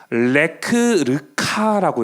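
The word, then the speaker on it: לֶךְ־לְךָ: 레크르카라고 읽어요. 레크 르카라고 읽는데 요게 뭐냐면 레크는 명령어예요.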